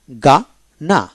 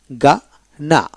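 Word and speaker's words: Ghana: ওয়ার্ডের মধ্যে জি এইচ সি এইচ ডব এইচ এইচ ও একসাথে থাকলে এইচ এর উচ্চারণ কি? হয় না। যেমন জি এইচ এন এ গা না গা না অর্থাৎ জি এতে গা।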